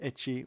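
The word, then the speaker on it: エッチ: Except the word H in Japanese is pronounced etchi, which is another way to say sex.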